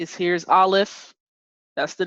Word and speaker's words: Aleph: So the first letter there, all right, here's Aleph. That's the name of it, Aleph. You can spell it A-L-E-F or A-L-E-P-H.